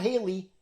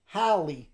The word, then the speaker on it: Halley: engaged to a woman named Hallie not Haley Halley like Halle Berry yeah but it's spelled h-a-l-l-e-y oh yeah and Sarah